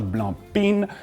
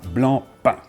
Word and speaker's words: Blancpain: And one final thing, it's not Blancpain, we hear this here and there, but really pain, Blancpain.